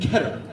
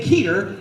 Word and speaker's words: Keter: And so the original three are called safe, Uklid, and Keter. And if you say keater, I will throw a sticker at you. It does not rhyme with keater.